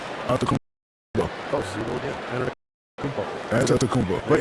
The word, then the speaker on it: Antetokounmpo: Shaq, you bestowed your Superman nickname on Giannis Antetokounmpo. What made him worthy of that distinction? And would you please, for the audience, say his last name? Say the last name. Antetokounmpo. Oh, see you again. Antetokounmpo.